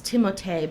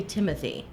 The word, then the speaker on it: Timothée: well, according to interviews he's given in the French pronunciation, it's Timothée, but he says you can say Timothy.